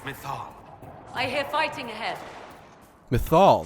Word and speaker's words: Mythal: I hear fighting ahead methal that's how you pronounce it they still think